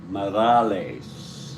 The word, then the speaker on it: Morales: Jerry Morales Morales Morales Morales is really the way to pronounce it in Spanish Mo MOA lace that is really the way to pronounce it Mo ra lace Morales okay here's